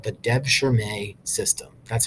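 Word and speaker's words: devşirme: do this they had a system called the Deb sure May system that's how you pronounce that word I'm not going to be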